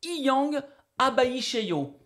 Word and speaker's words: EHang 216: Alors prononcez Iyang Abaisheyo.